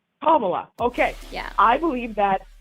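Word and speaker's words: Kamala: Uh, what's the correct If you tell me the correct pronunciation, I will say it correctly. What is it? Kama. Kamla.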